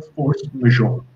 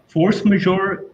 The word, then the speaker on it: force majeure: आया, उसे कहते हैं फोर्स मेजोर। इसकी स्पेलिंग जो है फोर्स की फोर्स ही है और मजोर जो है उसको MAJEURE। लैटिन का अगर आप इंग्लिश